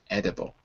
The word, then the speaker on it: edible: So just to be clear, the first syllable ends on the d, edible.